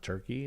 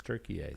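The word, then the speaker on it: Türkiye: I haven't heard them do a story on it, but we're just to assume that it's not Turkey, it's Turkiye.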